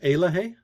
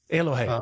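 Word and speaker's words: Eloheh: yeah and it's pronounced aloh aloh thank you yeah it's a Cherokee word basically meaning wholeness and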